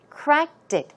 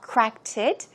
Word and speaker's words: cracked it: the pronunciation crack crack but when it's used with it cracked dick crack dick the pronunciation changes a bit okay it's not cracked it it's cracked it cracked it I cracked